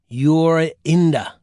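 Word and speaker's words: Jorinda: The little girl's name was Yurinda. You pronounce that Yurinda.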